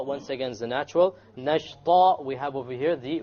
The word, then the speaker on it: نَشْطًا: Nashta, once again, should be heavy because the letter before it is heavy.